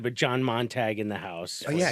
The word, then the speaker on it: Montague: What do you get, like Montague? You nailed it, yeah. Montague. It's rare. I get a lot of Montagues. I get weird ones.